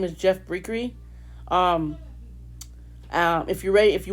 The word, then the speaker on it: Briere: But it's not Briere, it's Briere. That's how you say it, not Briere, Briere.